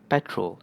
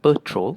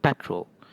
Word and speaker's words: petrol: And this one is petrol and in Malay you'll also pronounce it as "peh-trol" and you don't pronounce it "per-trol" you pronounce it peh-trol so it's a different sounding E and for this one